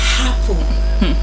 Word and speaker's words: apple: They say, I want to get an apple. Apple. That shouldn't be, that is the wrong pronunciation. You don't say apple, but apple, not apple. You don't have the ha sound to this word.